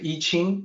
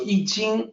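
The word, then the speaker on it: I Ching: i know a lot of people will say iching or iching uh actually it's in and the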